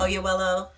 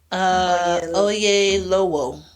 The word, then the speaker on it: Oyelowo: Oyewelo. Oyelowo.